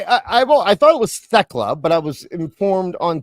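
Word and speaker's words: Thekla: So, so Techla, I I I thought it was Techla, but I was informed on Tuesday that it's actually Techla that you don't pronounce the th you just pronounce the T.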